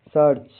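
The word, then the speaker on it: search: Rule number 9, जैसे SERCH सर्च, EAR की ध्वनि अर जैसी आती है, CH से च, सर्च।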